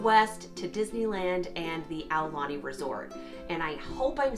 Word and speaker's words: Aulani: I was corrected in a recent video from somebody who lives in Hawaii, who posted that it's Ow, like O-W, Lani, and I tend to say Oulani, so I'm working on my pronunciation.